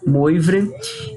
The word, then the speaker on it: Moivre: Francês, acho que a pronúncia fica Moivre mesmo, Moivre.